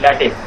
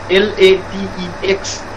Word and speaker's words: LaTeX: some time into learning LaTeX. The word is LATEX, but do not pronounce it as latex, because latex is a substance that you mix with cement and whatnot, but it is pronounced as LaTeX.